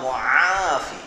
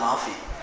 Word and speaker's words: মুআফি: আসে শব্দটা একদিক দিয়ে ঠিক বলছিল, আল্লাহ মুআফি, বাঙালি তো আইন উচ্চারণ করতে পারে না, তাই আল্লাহ মাফি।